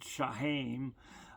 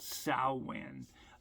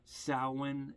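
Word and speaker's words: Samhain: If you run across one of my previous videos where I'm pronouncing it, Shahim, uh, a a fellow pagan pointed out to me it was called sin, not Shahim. sin is the correct pronunciation.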